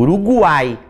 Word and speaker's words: Uruguai: quando não foi pronunciado é o caso de guerra por exemplo eu digo guerra agora eu digo urugai eu digo uruguai então aí não é ele vai ser pronunciado a formando triton tá eo